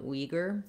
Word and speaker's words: Uyghur: I wouldn't necessarily recommend changing from Uyghur, the English pronunciation, simply because if you're speaking English, talking with other people in English about the Uyghurs, you're going to want to use the pronunciation that people understand.